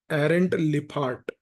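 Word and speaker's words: Lijphart: इसके बाद एक स्कॉलर हैं जिनका नाम है एरेंट लिफ्ट। जे साइलेंट है पैरेंट लिप हार्ट इन्होंने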